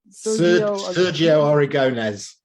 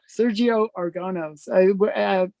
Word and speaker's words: Sergio Aragonés: Sergio Aragonés. Sergio Aragonés. I mess up his name every time. It's so annoying. But yes, Sergio Aragonés.